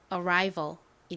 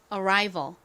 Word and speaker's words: arrival: 소리가 나서 발음해 보면 Arrival이 됩니다 여기는 R 부분에 강세가 들어가요 자 같이 발음해 볼게요 Arrival Arrival 좋습니다 Arrival a